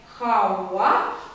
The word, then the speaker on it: хава: То, что пишется хава, а читаем хауа, об этом мы с вами поговорим дальше.